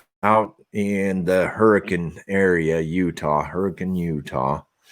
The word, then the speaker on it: Hurricane: I've been working out in the Hurricane area, Hurricane, Utah. It's spelled hurricane, but they pronounce it hurricane for those of you from far away.